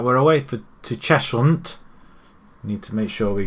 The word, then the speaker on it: Cheshunt: Right, we've got Chestnuts coming up next, or Cheshut. I thought it's Chestnut. It's Cheshunt. Cheshunt.